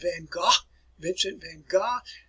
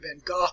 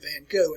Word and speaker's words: Van Gogh: I know you think I'm pronouncing that crazily here, folks, Vincent van Gogh, but that is the proper way to pronounce it. Some people in our country pronounce it Van Gogh, and that's just not the way that he pronounced his name.